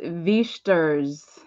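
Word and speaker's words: Wächtersbach: So I believe because I took German in high school, W is pronounced as a V. You pronounce the second vowel, so it's Wichtersbach, Bach, Wichtersbach. I believe that's how you say it, but I could be wrong.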